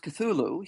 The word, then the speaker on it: Cthulhu: thulu c t hu l hu uh is pronounced cthulu.